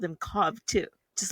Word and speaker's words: Cobb: Cobb?